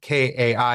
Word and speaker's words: Kai: he first pulls his his thing out because it's spelled K A I. And he's like K. He's like, I'm going to go with Kai.